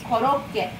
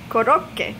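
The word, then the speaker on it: コロッケ: How do you pronounce it in Japanese? Korokke. Korokke.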